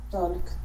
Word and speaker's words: talk: Talk. Ok. Este verbo yo lo pronuncio talk. Talk. Talk, como TikTok.